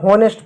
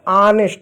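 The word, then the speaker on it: honest: होता है जैसे इसको इसको बहुत सारे होनेस्ट बोलते हैं होनेस्ट नहीं होता ऑनेस्ट होता है एच ओ एन ई एस टी H silent होगा तो ओ का औ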